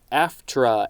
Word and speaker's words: AFTRA: world a world after death next we have aftra a-f-t-r-a this is all caps and it is